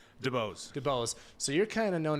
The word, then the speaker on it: DuBose: DeBose.